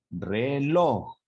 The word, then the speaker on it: reloj: en la última sílaba por ejemplo la palabra reloj ubiquemos y escuchemos reloj ubican el diagrama de picos aquí de sonido que esa fue la intención y que está en rojo además entonces si nombramos la sílaba sería última penúltima resulta que la última es log y la penúltima sería re explicó reloj claro entonces la sílaba tónica es su última sílaba de su palabra por lo tanto de esa palabra es aguda el siguiente ejemplo fíjense